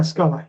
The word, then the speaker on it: Scala: Is that how you pronounce it? Yeah, Scala, yeah.